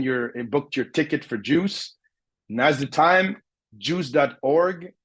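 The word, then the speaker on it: JEWCE: you haven't taken your booked your ticket for juice now the time juice.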